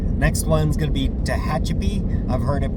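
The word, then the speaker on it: Tehachapi: So um the Kahome Pass McDonald's next one's going to be Tahachip. I've heard it pronounced Tahach Chappie.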